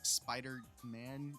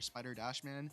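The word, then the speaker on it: Spider-Man: guess in some cases you don't really pronounce it like Spider Man it's not really spider to man or spider Dash man sounds stupid but we'll see eventually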